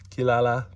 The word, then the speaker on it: Kirara: would say one more no it's not shipo it's Kirara little Kara Kirara kirala however you want to pronounce it but yeah I